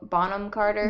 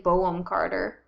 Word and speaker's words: Bonham Carter: Helena Bonham Carter? Yeah, I think. I always want to say Boham Carter. That I mean, it sounds French.